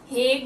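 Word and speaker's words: Hague: हूँ, हेडक्वार्टर का है हेग में। ठीक है, हेग बोल लो, हाग बोल लो, जो भी आप प्रोनाउंस करो, ठीक है।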